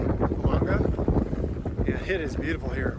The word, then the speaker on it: Fulanga: I'm saying it correctly, Fulanga.